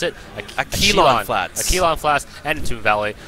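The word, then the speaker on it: Akilon Flats: No, how do we pronounce it? Aquilon Flats.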